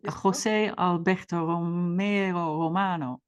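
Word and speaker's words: José Alberto Romo Romano: your first collaboration with Jose Alberto Romo Romano do I pronounce that well yet you couldn't have done it better we're gonna call him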